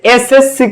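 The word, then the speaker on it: SSC: same ভাবে তুমি যদি এসএসসি করতে যাও, কি করতে যাও, এসএসসি, হ্যাঁ এসএসসি, এসএসসি, তাহলে প্রথম অক্ষরটা উচ্চারণ হবে এস, এসএসসি, তাহলে এস মানে কি,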